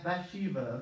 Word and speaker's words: Bathsheba: by Shiva I can't say it but yeah Bathsheba okay that's how you say it in English